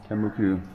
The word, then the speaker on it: Tembuku: Tembuku.